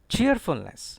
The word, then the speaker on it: cheerfulness: Next is a rather lengthy word, cheerfulness. Stress is on cheer. R will not be pronounced here, I tell you. Cheer. Cheerfulness. Cheerfulness. Certain students stress here, stressful, cheerfulness. No.